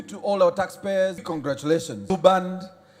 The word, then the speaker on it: Blue Band: Blue band. Please notice the pronunciation is the same as the other thing we use for our bread. Blue band.